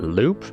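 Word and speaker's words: loupe: also use my my fancy how do we pronounce that Loop l o u p e all right I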